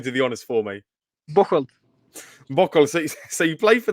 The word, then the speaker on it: Bocholt: playing for, I don't know what, I can't pronounce that team's name. So you can probably do the honours for me. Bocholt.